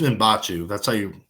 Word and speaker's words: Mbachu: Yeah, I think it's Mbachu. That's how he said in interviews.